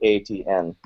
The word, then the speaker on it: ATN: And it's not spelling my name out ETIENNE. It's literally it's phonetically ATN.